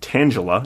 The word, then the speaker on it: Tangela: Tangela, pronounced Tangela in humans, like the name Angela, is around since 1956, running well over 100 for a good chunk of the 70s and 80s.